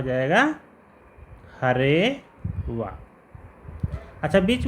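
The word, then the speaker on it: हरेऽव: हरेव, हरेव, मतलब अवग्रह का उच्चारण नहीं किया जाता है, इसको हरेव ऐसा उच्चारण करते हैं।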